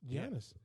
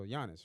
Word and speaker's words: Giannis: wants to be great oh you mean Yanis Janice although he said giannis so Yanis right yeah that's that's how you say his name am I wrong or